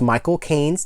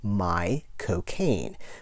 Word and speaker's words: Michael Caine: And just in case you pronounce Michael Caine's name, My Cocaine. Michael Caine.